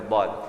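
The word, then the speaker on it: ضاد: Now, an easy way of pronouncing it. Where's uncle here? He's not around. Okay. I taught it to him like 5 years ago, and every time I come to Mombasa, he'll come to me and pronounce the letter dad. So remember when we were young, we used to have wobbly teeth. So think about this top tooth here, the side one here, as wobbly.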